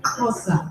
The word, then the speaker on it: Xhosa: Xhosa, actually. I pronounced it correctly with the tongue click.